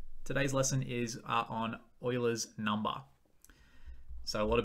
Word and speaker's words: Euler: a new number today's lesson is uh on euler's number so a lot of people want to pronounce this name as yula it's actually pronounced euler so he was a